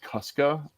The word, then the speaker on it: Kuska: Just to help you, my last name is pronounced Kuska. I know it doesn't look like Kuska.